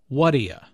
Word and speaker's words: What do you: before the adjective what do you notice the pronunciation here it sounds like wadia hmm is used to show that the speaker